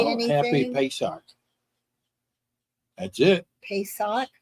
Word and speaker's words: Pesach: Happy Pesach. That's it. Pesach? Pesach.